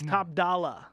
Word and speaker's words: Top Dolla: No ER. It's Top Dolla.